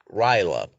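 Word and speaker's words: R'lyeh: which is essentially um known as the city of ryla or relay however you prefer to pronounce it and which is actually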